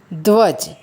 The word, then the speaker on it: ध्वज: ध और व का उच्चारण साथ में करना है, ध्वज।